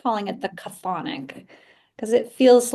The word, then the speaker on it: chthonic: I like calling it the chthonic because it feels like that's the sound. It feels to me that goes with this. But Wow. yeah, And it sort of rhymes with sonic, you know, it's, yeah.